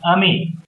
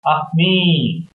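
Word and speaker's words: ami: say friend in French the word is Amy my mom says you say it like this of me I love French everything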